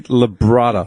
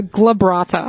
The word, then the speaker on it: glabrata: Candy Labrata. No, glabrata.